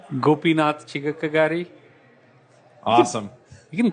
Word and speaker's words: Gopinath Chigakkagari: bit different how do you say your name gopinatha tiga karate awesome you can call Gopi Gopi alright that's